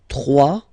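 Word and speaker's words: trois: 3, final S not pronounced, 3.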